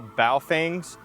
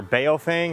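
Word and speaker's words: Baofeng: These are all Bow Fangs or Bofang, however you want to pronounce it.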